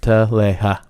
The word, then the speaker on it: Talia: no sex going on my name is Talia Talia Talia that is how you say it smiled sweetly and her